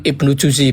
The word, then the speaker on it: Ibnu Juzi: Bacanya Itu nasihat dari, bukan nasihat, itu tafsir dari Imam Ibnu Juzi, bukan Jauzi ya, bukan Ibnul Qayyim al-Jauziyah.